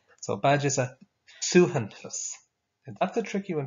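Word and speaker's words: suaitheantas: So a badge is a suhantus. And that's a tricky one to pronounce as well.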